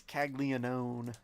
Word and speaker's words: Caglianone: At least he has silent letters in his name. Oh, yeah. It's Caglianone.